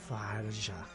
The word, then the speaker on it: Tharja: Tharja.